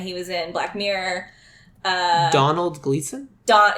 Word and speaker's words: Domhnall: yours I totally switch my first thought was Donald Gleeson who is I can't remember names or